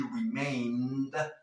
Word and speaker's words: remained: No pronunciamos esa E, ¿por qué? Porque la N es suave. She remained determined, no determined, determined,